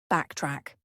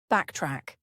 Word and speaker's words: backtrack: Backtrack. Backtrack. Notice the pronunciation. The stress is on the first syllable. Backtrack.